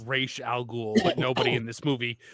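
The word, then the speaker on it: Ra's al Ghul: No, it's pronounced R al Ghoul, but nobody in this movie, nobody in this movie, including the the Arabs, say it correctly.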